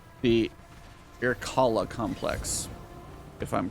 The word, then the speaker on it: Irkalla: pronounce this right, the Irkalla complex. If I'm correct on that one, cool. If not, forgive me. But it's I-R-K-A-L-L-A, so irkalla, something like that.